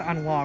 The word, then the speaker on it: ennui: I think it's ennui, right?